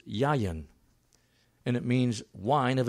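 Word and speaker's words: יַיִן: Wine is the Hebrew word pronounced yayin, and it means wine of every kind, fermented and unfermented.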